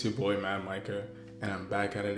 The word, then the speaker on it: Micah: It's Micah, like Micah.